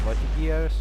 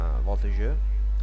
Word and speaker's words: voltigeurs: I have 4 units of voltigeurs, or voltigeurs, I believe that's the French pronunciation.